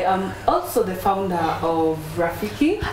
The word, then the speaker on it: Rafiki: Correct pronunciation is Rafiki. It's not about how it's written.